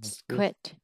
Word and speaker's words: squid: Dried squid. Dried squid. Nó là sờ cờ quýt á. Squid. Squid. Phải đọc là squid.